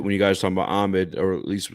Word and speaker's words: Ahmed: So, Ahmed is ha. You're saying ha. These are different letters.